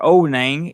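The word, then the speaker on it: Ao Nang: Onang, pronounced O-W-Nang, or Onang, is a stopping off point for the Southern Islands by Krabi.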